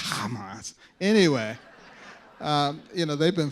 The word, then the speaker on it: Hamas: I've been waiting for one of those commentators to ask me how you pronounce it, because that's the way you actually pronounce it. It's not Hamas, it's Hamas.